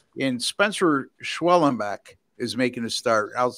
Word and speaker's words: Schwellenbach: Atlanta and San Diego all right and Spencer schwellenbach is making a start I'll I'll pronounce it for you schwellenbach right all right well you know wasn't there